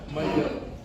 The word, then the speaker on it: mai au: Yeah, so we want to glide it together so that you're saying the proper pronunciation and the proper translation. So one more time. No blank mayo.